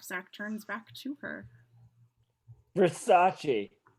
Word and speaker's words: Versace: turns back to her versace he pronounces it correctly what versace that's how it's pronounced oh you got great